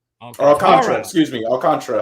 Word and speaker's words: Alcantara: right Alcantara excuse me I'll Contra I apologize I'll Contra like the Iran Contra but I'll Contra that's what I wanted